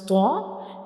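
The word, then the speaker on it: ط: To pronounce tho, the tip of the tongue will touch the gums behind up front teeth.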